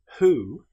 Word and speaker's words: who: However, with the word who, this is pronounced as if the W didn't exist.